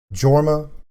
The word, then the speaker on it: Jorma: cool people you've got jorma who's i think the only european descended person that uses the pronunciation of the jay in his name he should be yorma but he's not um when he's not